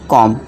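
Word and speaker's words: comb: इस तरह से क्या करेंगे, डाउट, थम, कॉम, ठीक है दोस्तों। इसे कॉम्ब नहीं पढ़ते, इसी तरह बॉम्ब भी, जो बॉम्ब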